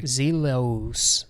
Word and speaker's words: Zellus: Zelos is what it really looks like phonetically.